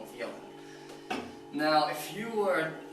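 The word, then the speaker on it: Jelen: My favorite Serbian drink of all time is Yellen. Like, I mean, you pronounce the J as a Y, Yellen.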